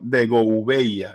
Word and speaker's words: de Gouveia: Yo digo, bueno, de Gouveia es como se pronuncia.